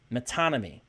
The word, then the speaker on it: metonymy: I think it's what's called I always mispronounce this, metonymy.